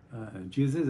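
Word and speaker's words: Jesus: ये जीसस कैसे हुआ, तो क्योंकि ग्रीक लैंग्वेज में आई को जे की सूरत में भी लिखते थे और आई की सूरत में भी लिखते थे, तो बाद में लिखा जाने लगा जे की सूरत में, तो आई बदला जे की सूरत में, और साथ में आई साउंड जो है वो बदल गई जे साउंड में, और हो गया जीसस।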